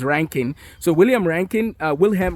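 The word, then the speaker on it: Röntgen: wilhem uh ranking uh but it's spelled like rodkin but it's ranking so William ranking uh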